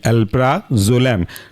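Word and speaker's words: alprazolam: पी आर ए जेड ओ एल ए एम अल्फ्रा जलम last example anti anxiety के अंदर का व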